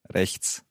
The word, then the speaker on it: Rechts: Rechts. Rechts. Rechts. Okay, it's quite tricky, the sound at the end there. There's a t, and a s.